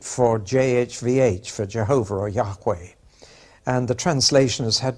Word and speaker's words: Yahweh: letters of God's name that's pronounced Jehovah in English and Yahweh in Hebrew now to help you